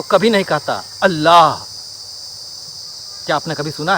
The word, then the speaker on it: अल्लाह: जब आप अल्लाह कहेंगे, अल्लाह, तो अंत में ह का उच्चारण आएगा और इंड कर जाएगा।